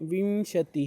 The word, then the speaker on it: विंशति: देखो, इसका प्रोनाउंस करते समय आपको विंशति ही इस तरह से करना है, विशंति ही ऐसा नहीं करना है। विशंति बोलते हैं आप तो आपका अनुस्वार श के ऊपर जाता है और वो रॉन्ग हो जाता है।